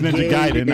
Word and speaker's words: Ninja Gaiden: and I heard it was Ninja Gaiden, I was like, okay, I Well, you accept threw an that.